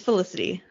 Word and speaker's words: Felicity: No, it's Felicity. Okay. What were you saying in your head? Felicity? I don't know why. I was adding an extra L.